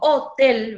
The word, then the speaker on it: hotel: por eso le pregunto como yo digo te digo hotel o digo hotel y en este caso digo hotel verdad entonces se cara la voz en la última sílaba pero tiene reglas yo